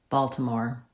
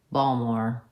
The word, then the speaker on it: Baltimore: But if you're from Baltimore, you might say it more like Balmore. Whoa! Balmore. They might drop the... Yeah, they dropped the T.